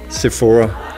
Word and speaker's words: Sephora: here from Sephora France How do you pronounce Sephora se the Danish version Sephora is that approved that's fine a The